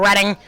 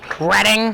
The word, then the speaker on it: Reading: of how many times I mix up reading, which is the correct way to pronounce it, and reading.